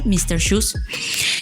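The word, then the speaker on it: Mr. Xhus: Shoes se escribe XHUS, es decir, MRXHUS, Mr. Shoes.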